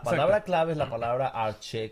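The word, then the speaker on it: ἀρχή: Ya la palabra clave es la palabra arche, que es escrita o se pronuncia arge, y ya dimos el significado.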